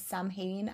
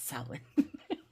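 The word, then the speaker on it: Samhain: from as someone from Ireland and when people pronounce sin as Sam Hayne I'm like phonically I understand it but pronunciation wrong it's uh pronunciation still wrong. Okay, it's sin.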